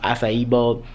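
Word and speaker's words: Accio: jealous when you see it uh it's it's pronounced asaio but that is spelled weird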